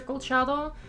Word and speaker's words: Colchado: are more than welcome to call me professor colchado i also respond to professor c both of